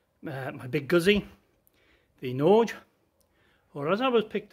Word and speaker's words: Norge: my big guzzy the nordge or as i was picked up uh the correct pronunciation should be nauga having said that i'm